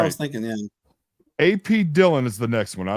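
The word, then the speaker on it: Dhillon: But it's pronounced Brickley. Okay. Yeah. All right. I was thinking, yeah. AP Dillon is the next one.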